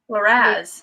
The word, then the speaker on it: Liraz: Is it Laraz, the sister, Akiva's sister? How do you say her name? Liraz? I don't know. Okay, so it's Akiva. No, it's Liraz.